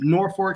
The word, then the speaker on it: Norfolk: they're gonna have to be able to beat Norfolk State to even oh here we go where